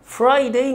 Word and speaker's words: Friday: اما الجمعة Friday، ما تنساش ان انا بعلق لساني في الره ساوند، فهتبقى الكلمة Friday Friday Friday Friday Friday.